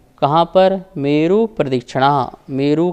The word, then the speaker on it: प्रदक्षिणा: चतुर्थ अध्याय का सूत्र नंबर 13 है मेरु प्रदक्षिणा। शुद्ध उच्चारण करने के लिए आप प्राग के बाद थोड़ा सा जो ये है यहाँ स्वराघात करेंगे तो यहाँ पा का साउंड आएगा।